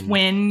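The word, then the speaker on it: Nguyen: Yeah, I was just going off of the Vietnamese, like, if somebody has that NGUYE, it's like it's win. It's win usually.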